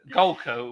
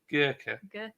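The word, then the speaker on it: Golcar: Golka, which everybody pronounces Gurkha.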